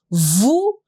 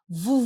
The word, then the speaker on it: vous: S and A will do a liaison together. Vous vous appelez, appelez comment?